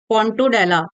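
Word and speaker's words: Pontobdella: और एक होता है पोंटोडेडला। अब जिसमें बी साइलेंट होता है इसको पोंटोडेडला पढ़ते हैं। पोंटोडेडला कहते हैं।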